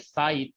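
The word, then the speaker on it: ψ: तो साई, या इसी को हम लोग बोलते हैं, इसको तो साई पढ़ोगे आप, this is pronounced as साई, PSI, साई होता है ये, ठीक है ना।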